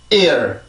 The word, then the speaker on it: ear: 그래서 그 이중모음에서 규칙은 항상 앞에 있는 모음에 강세가 붙게 되고 뒤에 있는 모음에선 소리가 풀려요.